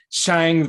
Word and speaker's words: Shang: something like that yeah it sounds like shang from shanghai which is how it